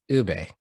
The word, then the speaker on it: Ube: feels when you butcher 3 letters, you know, Ube, that's it.